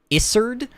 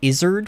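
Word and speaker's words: Isurd: say his name is isard but I I always say Izard which sounds like lizard but it's it'sard there's no there's no z sound um a lot of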